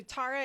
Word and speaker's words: Tara: tibetan deity and um it's pronounced several different ways but i'm going to do tara this morning so tara is a deity of